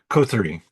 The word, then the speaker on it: coterie: Coterie. Wow. Yeah, coterie of vampires. That's is Okay. what I thought it was pronounced, and I was like, no, I'm going to pronounce it wrong. So then I looked at the phonetic pronunciation, and it definitely looks like country, but coterie of vampires